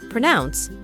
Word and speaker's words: pronounce: others can understand them the word is stressed on the second syllable pronounce and the final C